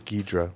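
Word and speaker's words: Ghidra: It is Gedra. Gedra. Now I'm failing on my pronunciation.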